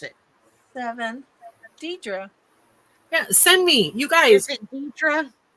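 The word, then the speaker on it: Dedra: you say your name or how do you pronounce it seven Deidra yeah send me you guys send them like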